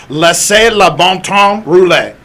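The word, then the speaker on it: Laissez les bons temps rouler: to try anyway let's go and it is pronounced la la bomtom roulette okay so like i'm i'm dutch i'm not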